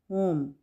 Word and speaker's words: whom: अच्छा, next word है होम। होम, वैसे तो डब्ल्यू की साउंड होती है वाह, लेकिन यहाँ पे हम होम, डब्ल्यू को साइलेंट करेंगे और प्रोनाउंस करेंगे होम, ठीक है।